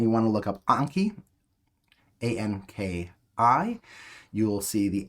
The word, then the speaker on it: Anki: I always mispronounce it as Anki, but you should say Anki because you should be better than me.